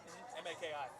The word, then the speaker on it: Maki: M A K I. Macki. It's German. So it's pronounced Maki. But by Americans say Macki.